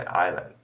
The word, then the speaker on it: island: então por exemplo né Island que é escrito é is E aí falando é Island é muito mais fácil